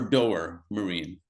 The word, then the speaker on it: Doer Marine: Um, so the last thing before the last couple of questions, is it pronounced doer or doer, Marine?